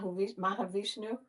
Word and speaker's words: Mahavishnu: Mah Mahavishnu.